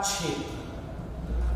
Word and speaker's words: क्ष: जैसे क्ष है, क्ष जो कि क प्लस सौ से मिलकर के बना, तो क्ष बोलेंगे इसको।